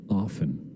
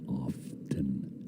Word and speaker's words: often: Often the tea is silent and often. It's often.